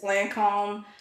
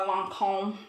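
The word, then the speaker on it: Lancôme: and then I also love this Lancome or Lancome I'm going try to start pronouncing it correctly cuz I pronounce it like I'm from the south cuz I am but longc I think this is how you pronounce it the jifi advanced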